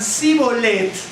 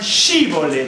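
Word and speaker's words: שיבולת: Entonces, los del norte, ¿no es cierto?, pronunciaban Sibolet, y los del sur pronunciaban Shibolet.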